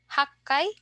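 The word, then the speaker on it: 八回: of times or frequency our special pronunciation here is in the 1 6 8 and then 10 so IAI Rock K hakai and jukai so please take note of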